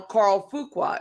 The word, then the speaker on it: Fuqua: I'll say his name because he has a channel, Carl Fuqua. It's Fuqua, and he has a Cybertruck.